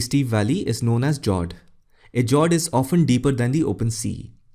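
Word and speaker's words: fjord: The next one is Jord. The F word is silent when you pronounce it.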